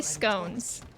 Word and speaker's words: scone: Yeah, how else can you say scones? Where's Lady Moscow? I don't know. I don't think I'm going the right way. Computer says scone rhymes with gone.